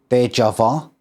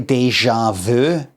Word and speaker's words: déjà vu: The Tour de bit is kind of like French, so I just kind of say the whole thing French. You know, like, I don't say déjà vu. I say déjà vu. You know, that way.